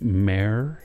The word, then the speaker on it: mer: It's going to be like mare.